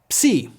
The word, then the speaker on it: Psi: Psi. Psi has a compound sound using both P and S.